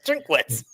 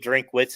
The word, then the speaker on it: Drinkwitz: at name pronunciation but I believe drink wits is how it's said that's exactly how it's spelled okay anyway he is